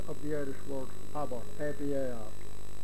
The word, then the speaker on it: abar: And Ab would be a contraction of the Irish word Abar, A-B-A-R, pronounced Abar, which meant a puddle of horse manure or a wet marshy place.